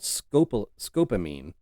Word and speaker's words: scopolamine: So, um, but yeah, it's and actually that word that I was trying to pronounce it, she pronounced it, and it's called scopolamine.